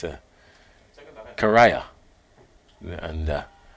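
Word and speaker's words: Cariah: to go back to John ramsing it's a karaya and uh it's a Yannick karaya huh and got to get the proper pronunciation of his name I I do understand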